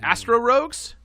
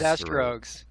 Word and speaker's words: Astrogues: Is it Astro Rogues? Astero Rogues? It's Astrogues. Astrogues.